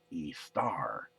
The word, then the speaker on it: Ishtar: in Babylonia the goddess of spring was called Ishtar and we also see that Ishtar was actually pronounced East are in most Semitic dialects so who would be